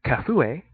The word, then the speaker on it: Kafue: Getting the elephants to Kafue, that's how you pronounce it, it's a place in Gambia, can be a challenge.